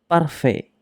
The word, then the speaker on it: parfait: Parfait. Parfait. Ibig sabihin ay perfect. Parfait. Nagtatapos siya sa T pero hindi natin siya binibigkas.